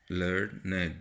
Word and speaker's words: learned: Learned, I told you, well educated, usually written and pronounced with two syllables. Learned, like this. Here it is pronounced as one syllable to reflect an ordinary person.